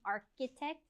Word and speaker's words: architect: a computer programmer architect again we have the ch and it's kind of pronounced with that k sound architect a full-time student that's